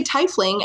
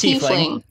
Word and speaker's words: tiefling: I know some people who say tiefling, and I'm like, I'm gonna kill you because send them to this podcast. To about 20 something minutes in, and we will tell them it's wrong. It's pronounced tiefling.